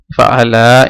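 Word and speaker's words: فَعَلَا: যে ফাআলা অর্থ হচ্ছে হি ডিড, ফাআলা এটাকে একটু টেনে পড়তে হবে যেহেতু এটা আলিফ, না হলে এটা উচ্চারণ একই হয়ে যাবে।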